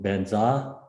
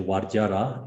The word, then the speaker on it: Vajra: So Tibetan pronunciation Benza, Sanskrit is usually Vajra, is the same meaning.